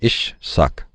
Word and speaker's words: Isaac: The syllable appears in names such as Isaac. This is correctly rendered Ish-sak, meaning man of the Saka, man of the sages, the Magi, the prophets, or the wise ones.